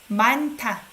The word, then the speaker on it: 많다: 많다 sounds like T.